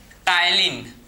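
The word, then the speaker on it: ptyalin: को क्या बोलते हैं इसे बोलते हैं टाइलिन पी साइलेंट होता है ना तो स्लेवरी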